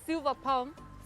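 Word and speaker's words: Silver Palm: okay cool so we're here at uh the silva palm spa and resort is that how to say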